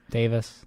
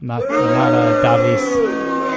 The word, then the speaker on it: Davis: Cameron Davis, not Davies.